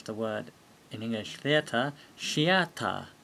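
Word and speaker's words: シアター: word in english theater shiata because there's no th sound in japanese remember and let's have a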